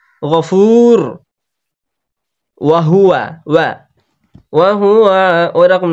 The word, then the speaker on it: الغفور: আজিজুল, আজিজুল নেই এখানে, আজিজুল আছে, আজিজুল গফুর। গইন যাবার গ, এটা হচ্ছে পুরো অক্ষরের মধ্যে একটা, ওই জন্য গভীর করতে হবে গইনটাকে।